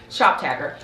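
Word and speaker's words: Shoptagr: Alright guys, next up on the list is ShopTagger, and it's spelled SHOPTGR, ShopTagger.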